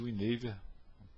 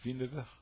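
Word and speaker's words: Winawer: no Brasil é conhecido como variante Win pronúncia correta é vever E5 C5 A3 Bispo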